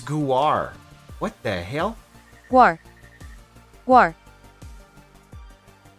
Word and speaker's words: Guar: Is it Gnar? Is that how you guys pronounce it? Guar. Oh my. It's a Guar? It's a Guar this whole time?